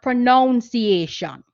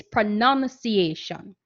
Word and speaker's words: pronunciation: And notice that word is not pronunciation. It's pronunciation.